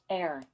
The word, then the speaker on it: heir: heir, 그러니까 이거는 heir이라고 읽으면 안 되고요. heir입니다. h가 묵음 처리되어서 상속인, 계승자 이런 뜻입니다.